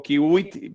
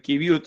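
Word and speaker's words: qiviut: en otras, el kiwi, no sé bien cómo se pronuncia. Kibiut o kiwit, pero es kibiut, digamos, sí.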